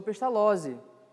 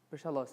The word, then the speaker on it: Pestalozzi: Ele estudou em escolas boas e se tornou amigo, como nós bem conhecemos a história dele, do professor Pestalozzi. Eu pronunciei isso errado. Pestalozzi, está certo.